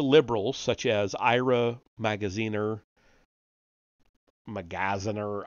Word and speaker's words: Magaziner: such as Ira magaziner magaziner I don't know how to pronounce that it's like Magazine with an r on the end um if you listen